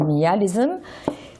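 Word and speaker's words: myalisme: Voilà, le mialisme, prononcé à la française, mialisme, qui est donc mile, qui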